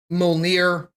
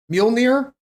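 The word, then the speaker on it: Mjölnir: I figured out um after I saw molnir mjolnir me on there I have to say it like that to pronounce it correctly and I still didn't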